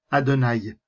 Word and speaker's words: Adonaï: récit du buisson ardent le tétragramme que l'on prononce adonaï c'est à dire le